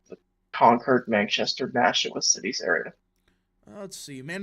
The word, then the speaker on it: Nashua: Is that how you pronounce it? Nashua? Nashua.